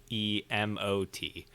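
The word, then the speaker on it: Witenagemot: We got Wittenagamat, which is an Anglo-Saxon national council or parliament. Oodles and oodles of uses for your everyday life. Mm-hmm. You want to spell it Wittenagamat. for It's the Wittenemot.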